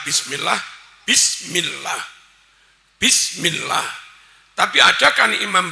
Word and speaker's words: bismillah: Imam kadang baca bismillah bismillah bismillah enggak sah. Ba kasrh bi tambahi sin mati bis. Harusnya imam baca bismillah.